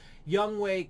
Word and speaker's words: Younghoe: I think it's hilarious, but it's obviously pronounced Younghoe, or at least that's what I understand.